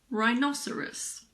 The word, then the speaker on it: rhinoceros: girin ghetto Ghost similarly if a word starts with RH the H is silent like in rhinoceros or rhythm I always